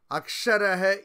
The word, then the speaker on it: অক্ষর: অক্ষর অর্থাৎ যার কোনো নাশ নেই। ভাবুন, আমরা অক্ষর বলি তো বাংলাতে, উচ্চারণ অক্ষর, আসলে সংস্কৃত উচ্চারণ অক্ষরা।